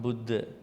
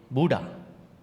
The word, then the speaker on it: Buddha: spirit so we have you have to pronounce with the h d like not Buddha Buddha Buddha not many people can pronounce properly uh lack of reading probably their way of pronouncing like the westerners say Buddha Buddha I mean I mean that's how they are supposed to say uh uh Buddha say Buddha s DH right all right there